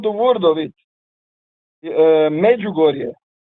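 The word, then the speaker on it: Međugorje: Uh, magugoria. Maybe you call it in English speaking uh area with some weird pronunciation like like Major George or something.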